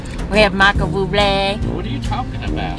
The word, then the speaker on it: Bublé: It was Michael Bublé. You have to say it like that, though. You have to say Bublé because he is.